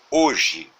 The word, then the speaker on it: hoje: ser iniciada com H, mas quando pronunciamos, é como se esse H não houvesse. Por exemplo, tomemos por base a palavra hoje.